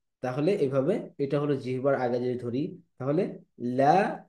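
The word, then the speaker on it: ل: এই যে লাম হরফটি জিহ্বার আগা অগ্র তালুর সাথে লাগিয়ে উচ্চারিত হয়, লা, লা।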